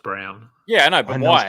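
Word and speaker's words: Braun: it should be brwn but I know it's pronounced Brown yeah I know but why I don't know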